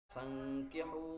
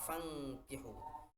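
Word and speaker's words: فانكحوا: menyatakan, a'udzubillahi minasyaitonir rajim, fankihu ma taba lakum minan nisa'i mathna wa thulatha wa ruba'. Di sini ada yang dikasih tanda merah, fankihu. Nun sukun bertemu dengan kaf. Itu wajib dibaca dengung, nama hukumnya ikhfa.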